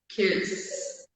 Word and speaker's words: kiss: Eu falava kiss, mas agora você diz que é kiss. Exatamente. Ó, o Edenésio chegou. Hello, Edenésio. I'm loving the class. Ó, o pessoal comentando ali. Então, assim, o que que é keys? Keys são chaves. É o que você usa para abrir uma porta. Use keys to open doors, né? Quando tu vai falar do beijo, tu vai falar kiss. Então, é um e não um i, né?